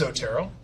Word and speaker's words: Zotero: i am at the homepage for zotero zotero pronounced zotero is a free easy to use tool to